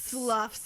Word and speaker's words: slough: Sloughs. Sloughs off. It Slough looks it like off. it looks like you're supposed to say it like slough, Or sloth. but it's slough.